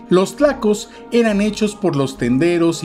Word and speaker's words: tlaco: También se le llegó a decir claco con C, pues los españoles no podían pronunciar el fonema TL. Los tlacos eran hechos por los